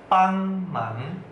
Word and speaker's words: 帮忙: Kang cai, kang cai, membantu bahasa Mandarinnya pang mang, pang mang, pang mang. Pang nada satu, mang nada dua, jadi bacanya pang mang, pang mang.